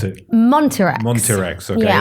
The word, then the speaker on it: Montirex: Montirex. Okay, Yeah. it is as it looks.